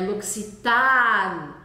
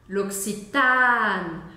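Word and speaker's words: L'Occitane: vamos começar do final o e no final da palavra novamente não é é pronunciado tá com vermelho nele luxan o a eu vou falar ele bem aberto com um som de a mesmo não é oxitan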